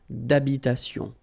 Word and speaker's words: d'habitation: Remember, H doesn't exist in French, well, in most of the cases, so it does mean that you don't pronounce it, all right? So, d'habitation.